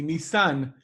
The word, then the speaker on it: Nisan: Nisan is the name of the car company, Nisan, with the accent on the Nisan. last syllable.